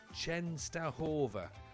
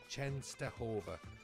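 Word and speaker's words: Częstochowa: Dave James says Chenova. That makes more sense. So, Raku Chenova, thank you, Dave James. Appreciate you. That makes sense. That's where we are. Raku Chenova.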